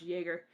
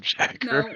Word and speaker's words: Jaeger: I'm going to call him McJagger, even though he said it's pronounced Jaeger.